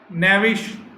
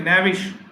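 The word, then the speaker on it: knavish: अच्छा, इसका उल्टा विली, कनिंग, डिसेप्टिव, स्लाई, नेविश, के साइलेंट इसमें, नेविश, कनिंग, धूर्त, मक्कार।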